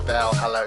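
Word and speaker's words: VA-11 Hall-A: She was streaming Valhalla. It's VA dash. Is it VA dash 11? No, whatever it is. Basically, it's pronounced as Valhalla.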